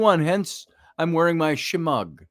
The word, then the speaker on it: shemagh: Hence, I'm wearing my shemagh, as they call it, or shemagh, if you want to pronounce the GH silently, shemagh, or it's my shemagh, my scarf.